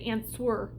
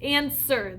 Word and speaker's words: answer: In this word, the silent letter is a W. Isn't that weird? So really, if I looked at this word, I could say answer, but it's answer, the W is silent.